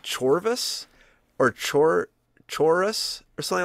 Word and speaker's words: Chorus: i think it i guess it's chorus it's a u not a v um okay h o r u s so chorus yeah chorus i guess yeah i guess that's how you say it of course uh but